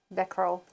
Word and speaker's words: becquerel: How do you pronounce it? That's what I'm looking. Becquerel. Becquerel. Becquerel.